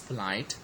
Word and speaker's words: polite: The next word is polite, so it's actually the second or the last syllable which is stressed, okay.